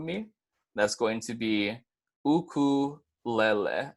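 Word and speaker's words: ʻukulele: that's going to be oku Layla I know a lot of the time is pronounced ukulele but this is just showing you of the pronunciation with the Hawaiian language so if you guys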